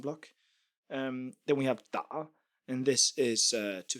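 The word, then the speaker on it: 打: Uh we get the pronunciation I guess from the from the nail because it's pronounced da and it means to hit but also like to play or to type or many many other things as well.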